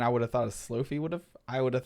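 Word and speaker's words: slofie: on iphone 11 so if you ever wanted to use the word slo-mo and selfie together it's pronounced slow fee this is kind of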